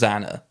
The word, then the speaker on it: XANA: actually quite important xana it's spelled x dot a dot n dot a dot so it's an acronym but spells zana so five four three